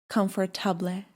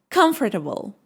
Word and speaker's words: comfortable: How do you pronounce it? Comfortably. No, it is comfortable.